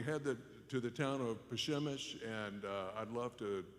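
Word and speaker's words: Przemyśl: the border we head to the town of pashemish and uh i'd love to uh just spell this word for you it's pronounced bashimish but it's spelled p r uh z z-e-m-y-s-l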